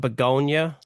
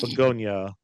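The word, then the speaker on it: Bugonia: Next up, I believe we have is pronounced Beonia. Yes, Beonia.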